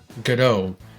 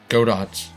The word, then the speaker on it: Godot: For those of you who don't know, there is a game engine called Godot, or Godot, which is not the correct pronunciation, but it's kind of more intuitive to say.